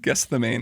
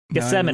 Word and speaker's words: Gethsemane: in the two that's I pronounced that one run guess the main is what I always call it guess the mini I got it Gethsemane is kind of how you're supposed to pronounce it um but they